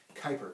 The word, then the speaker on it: Kuiper: and the and the Kuiper belt that's a tough enough pronounced name it's actually spelled that's actually pronounced Kuiper kind of like Viper with a K alright so the Oort